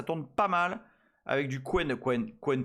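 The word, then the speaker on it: Qwen: Bah, ça se prononce pas comme ça hein. Quen. QWN, non Quen.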